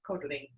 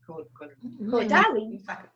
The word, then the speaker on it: Caudalie: And she's taught me how to pronounce Caudalie. Caudalie. Let's say Caudalie.